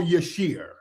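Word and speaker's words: Yashere: Is it Yashir or Yashiri? How am I pronouncing it right? I I want to be respectful of people's names. Is it Gina Yashiri or Yashir? All right. Let me see. Okay. Yashir. Okay. So, it is Yashir.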